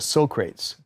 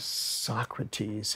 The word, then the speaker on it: Socrates: something by Socrates but he was mispronouncing he's calling a Socrates and uh nobody really giggled but Quincy didn't want him to be embarrassed so on a break break he would put his armor on Michael he said hey man I just before this gets into your memory bank I just wanted to share with you that the way that we pronounce it is Socrates and he says oh